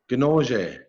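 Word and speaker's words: kinoozhe: and so on and the language it's called conoce conoce is how you say pike and so when i say my clan is the pike I would say conoce and though them Binoche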